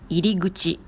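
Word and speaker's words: 入口: Et pour faciliter la prononciation, ku est devenu gu.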